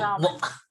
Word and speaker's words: Raman: Do I pronounce it correctly? Uh, More or less, yes, Oh, Raman.